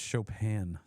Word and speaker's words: Chopin: Chopin. You mean you didn't grab any of these Polish. Canadian clubs? These gems that we brought in? It's Chopin, Tom. Chopin.